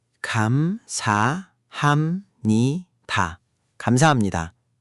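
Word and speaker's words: 감사합니다: Kamsahamnida. Good attempt. The ham part needs to be a bit crisper. Think of it like you're gently pressing the H. Not ham, but hum. Quick and clean.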